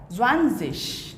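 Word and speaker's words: zwanzig: ये जो लास्ट में जी है इसका प्रोनाउंसिएशन कैसा आएगा? ज़्वानज़िश।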